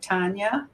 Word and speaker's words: Tania: and to me T listening to your story Tanya is that how you say it yeah it